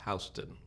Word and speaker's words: Houston: york there's a street spelled houston but it's pronounced houston and so that's where we were living down